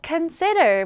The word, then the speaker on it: consider: 다음으로 consider 볼 텐데요. 여기서는 두 번째 음절의 강세를 강하게 더 보세요. 그럼 발음하기가 좀 쉬울 거예요.